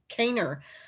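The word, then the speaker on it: Kanner: again by leo um it looks like canner but i think they actually pronounced it um kaner i believe it was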